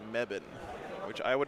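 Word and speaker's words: Mebane: chosen in it and the way you pronounce that word is meban which I would not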